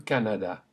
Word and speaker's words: Canada: Keep the A or A sound consistent. After me. Le Canada.